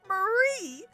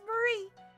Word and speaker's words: Marie: The IE makes me want to say her name is Marie rather than Mary, which is how I would read it with a Y.